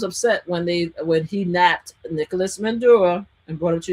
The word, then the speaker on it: Maduro: Maduro. Mhm. A lot of people was upset when he napped Nicolas Maduro and brought him to the United States.